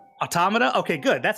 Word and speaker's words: automata: I mean there's a there's a correct English pronunciation right it's it's it's automata right automata okay good that's how I usually say it